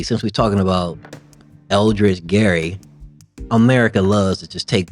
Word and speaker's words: Gerry: or the English to change Gary to Jerry. Yes, sir. They always doing stuff. Yeah. They change it up on you real quick. Soft G.